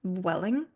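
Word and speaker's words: Vueling: Welling v u l i n g it's pronounced Welling um and it was really easy to get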